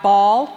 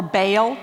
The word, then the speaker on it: Baal: We also have here, you guys have heard from the Bible about the god Baal or Baal, which is erroneously pronounced sometimes.